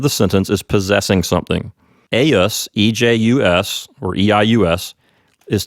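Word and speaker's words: eius: e I us or EJ us and it's pronounced a US that's right and take note if you decide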